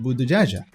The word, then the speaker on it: Buttigieg: called multi his last name Buddha judge is pronounced Buddha jaha and it's synonymous with Arabic Abu the judge